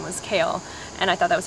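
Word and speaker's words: Kael: The next name, it's funny because when I first heard this name, it's the name Kale. It's spelled K-A-E-L, how I saw it spelled.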